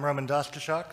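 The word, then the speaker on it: Roman Daszczyszak: And I'm RomanDaszczyszak, and that is how you say that last name.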